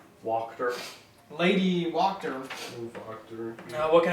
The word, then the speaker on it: Wachter: Lady Wachter, W-A-C-H-T-E-R. Slowly again. It's German. and W-A-C-H-T-E-R. Walked her.